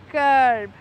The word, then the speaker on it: curb: wallet on the curb curb in British English the r is salad or I would say it is not pronounced because the r in